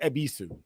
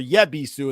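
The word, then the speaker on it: Yebisu: Because I asked somebody for yabisu and they were like, "What the is that?" And then I heard them say it and I was like, "Oh, it's the y is silent like jango."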